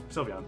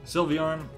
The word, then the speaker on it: Sylveon: that wow hello mw sylvian how do you pronounce it sylveon sylveon and they have a check mark because i